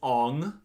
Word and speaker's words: Aang: from the show ab aang is ong iro is eero which